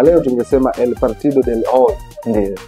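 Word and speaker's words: hoy: Partido del O ndio ambayo inatamkwa O inaandikwa hy O lakini kispanyola neno loanza na H ndio Huwaga inamezwa kwa sababu inatamkwa kwenye J ndio hii inose one ndio kwa hiyo ikishatangulia H inabezwa ndio inakuwa O ndio maana Hakuna Hernandez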